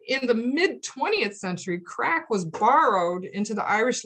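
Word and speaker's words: craic: It's pronounced like the word crack.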